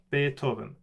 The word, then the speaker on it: Beethoven: it sounds like so beethoven beethoven is the closest to what it sounds like because you don't want to add any extra more extra syllables for the th combination in the middle beethoven so important little thing